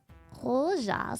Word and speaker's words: roja: Spanish pronounces the J like an H.